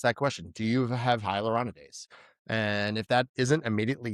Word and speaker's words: hyaluronidase: So if you have a vascular occlusion, do you have that hyaluronidase on site or hyaluronidase?